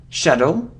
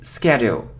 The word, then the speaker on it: schedule: So it's possible to say schedule, like here. And it's also possible to say schedule. Sometimes it depends really, on British, on American pronunciation.